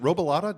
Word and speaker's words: Robilotta: Is it Robilotta? Did I pronounce Robilotta, you nailed it, yeah. Oh, hell yeah. Some say Robilotta, it doesn't matter.